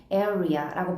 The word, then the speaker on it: area: 우리 additionally라고 할 때는 에 아니고 additionally라고 발음해주고 그 다음에 a picnic area라고 할 때 areal이라고 발음하지 않고 끝에 r 발음 없이 area라고 발음을 한다라는 것을 기억을 하시면 좋겠습니다.